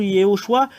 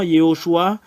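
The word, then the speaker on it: יהושע: qui est Yoshua et je corrige tout le monde que la vraie vérité c'est c'est ça le nom de Josué c'est Yoshua le vrai euh et c'est faux toutes les choses que vous voyez ce sont tous des faut je vais mettre une remarque ce sont des faux noms voilà c'est un faux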